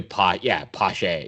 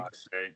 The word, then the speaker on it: Pache: Here's the thing: no one seems to know how to pronounce his name. I think. Well, I'm gonna go with Dan Schulman and not Pat Tabler. I'm gonna say it's probably Pache. You know what I mean?